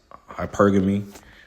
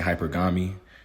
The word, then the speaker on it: hypergamy: My for y'all it's hypergamy. I've been saying it wrong. I've been saying hypergami.